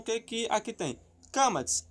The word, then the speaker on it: Qamats: Sobre o Kamatz, que é essa letrinha aqui. É o nome dela, Kamatz, tá? Então o que aqui tem? Kamatz, A longo, este som é oco, tendendo para o.